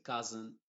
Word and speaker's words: cousin: S más otra vocal, la S se pronuncia con una Z que yo le llamo la Z inglesa, que lo vamos a ver después. Se va a decir cousin, museum, poison.